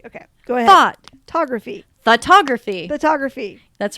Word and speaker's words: Thoughtography: Like F-A? No. Thought. Thought. Like a thought. Like thought. Thoughtography.